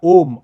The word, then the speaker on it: ओम: इसके बाद आता है ओम। अम भी बोलते हैं। अ उ ऊ म का का भी उच्चारण बोलते हैं।